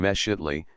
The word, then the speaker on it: Mexitli: The letter X is invariably pronounced as SH, so that Mixcoatl and Mexitli are, viva voce, Mishkotli and Meshitli, the final TL being